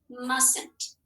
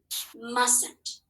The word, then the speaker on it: mustn't: look at this word we don't pronounce this t we say mustn't say that with me mustn't this t is not